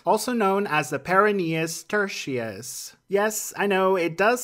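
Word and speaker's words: peroneus tertius: We're moving on to another muscle on our list – the , also known as the .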